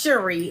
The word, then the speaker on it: Cherie: It's pronounced Cherie, and hers is Cherie. They're spelled the same.